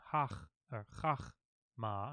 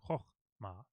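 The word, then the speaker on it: חכמה: a short Oh so this very popular word coma coma wisdom oh ma notice I'm not saying hock hock ma sang ho ma let's find out why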